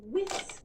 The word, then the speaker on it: whisk: I whisk the pancake batter with a whisk. I whisk the pancake batter with a whisk. Notice that the H is silent.